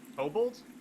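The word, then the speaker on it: Kobold: do you pronounce it obald obald like cobalt i guess that actually is the official pronunciation but they're kabul's in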